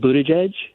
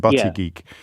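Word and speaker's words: Buttigieg: just for future reference oh Pete Buddha jedge Buddha jedge thank you I think I called him buty geek which is not that's not helpful at all thank you for not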